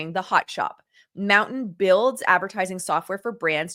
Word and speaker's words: MNTN: Mountain, pronounced Mountain, announced today that it acquired Maximum Effort Marketing.